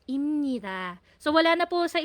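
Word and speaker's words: 입니다: So ito po yung spelling ng ipnida natin pero ang bigkas talaga niya is imnida.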